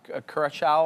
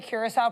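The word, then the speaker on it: Curaçao: I was just going to say a good way to remember the Curacao pronunciation is the same as that blue liqueur, like blue Curacao. Like it's CU and then, the Sao.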